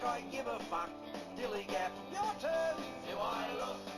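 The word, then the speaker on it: DILLIGAF: In a word, dillygaff. That's spelled D-I-L-L-I-G-A-F, dillygaff.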